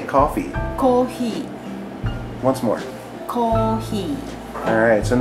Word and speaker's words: コーヒー: So notice the Japanese, you don't pronounce the F, do you? No. We don't have F and R sound in Japanese, so any sound for F in English probably go to ha, he, hu, he, ho.